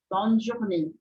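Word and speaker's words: bonne journée: Bon journe Bon journe prestem atenção que o sonzinho que eu faço desse é a acentuado aqui é ne ne ele é Agudo né Diferentemente do sonzinho ah desse outro e aqui que ele é um e mais fechado porque o som no do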